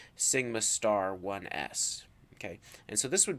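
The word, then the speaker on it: σ*1s: Sigma 1s again but it has the star and so this is pronounced Sigma star 1s ok and so this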